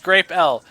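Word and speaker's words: Grapple: about the existence of graple pronounced grape l graple is a new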